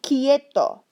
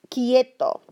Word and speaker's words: quieto: That doesn't happen in Spanish. It's just k. So this would be quieto, quieto.